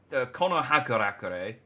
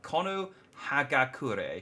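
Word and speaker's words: 木ノ葉隠れ: we cross the ocean Naruto konohakarakore now Kono hagakure I was adding an extra syllable in there let's couldn't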